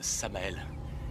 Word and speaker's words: Samael: En fait, ça se prononce Samael mais appelez-moi Sam comme tout le monde.